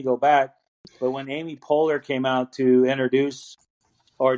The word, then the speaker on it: Poehler: he announced it Amy Poe Eller, like P-O, so like phonetically spelling it Oh, out or Paul saying it like Eller.